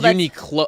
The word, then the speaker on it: Uniqlo: It's Well, Uniqlo. I think the stress is on the clo, like Okay. Uniqlo.